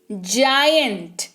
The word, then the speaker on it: giant: जायंट, GIANT, जायंट, जी के बाद क्या दिख रहा है, आई दिख रहा है, क्या बताया, EIY दिखेगा जी के बाद तो ज उच्चारण होगा, जायंट यानी कि विशाल, बहुत बड़ा, है ना।